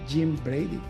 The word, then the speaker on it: Jim Brady: today we got we have with us uh Jim Brady Jim welcome to the show thank you David